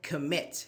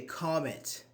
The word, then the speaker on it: commit: say develop no develop but I say commit I don't say comit commit a crime submit that's why so s